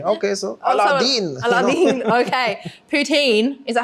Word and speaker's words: poutine: Poutine, is that how you say it, you Canadians?